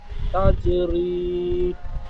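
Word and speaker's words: تجري: তাজিম জবর তাস, রয়াজের রি, তাজরি। তা জিম জান যাবার তাজ হয়ে গেছে, তাজ হবে না, জিমটি কলকলা হবে।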